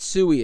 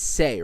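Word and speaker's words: Sei: this is the it's it's not sui it's say right I believe it's say is the ecosystem I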